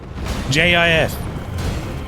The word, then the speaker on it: GIF: what you mean yeah it's pronounced gif jif but spelt gift that makes sense